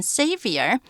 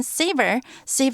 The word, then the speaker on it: savior: 就是机智来变成一个 savior 是拯救者救赎者，也可以在 o 跟 r 中间呢放一个 u，还是念成 savior，但是不要念成 savor 是另外一个生字，表示品尝的意思了。In turn 是反过来轮流或按照顺序的意思，轮流说出自己的名字吧，那就是 call out your names in turn。